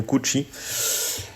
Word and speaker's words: Cucci: J'espère que je prononce bien son nom de famille, je le prononce à l'italienne, Santiago Cucci.